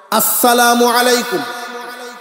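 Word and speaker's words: السلام عليكم: খেয়াল রাখবেন আর যেন উচ্চারণটা সুন্দর করে হয় আসসালামু আলাইকুম আমার সাথে একবার উচ্চারণ করেন আসসালামু আলাইকুম ওরাহমাতুল্লাহ আসসালামু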